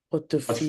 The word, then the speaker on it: portefeuille: dans mon portefeuille. Portefeuille. Portefeuille. Portefeuille. Portefeuille. E is silent.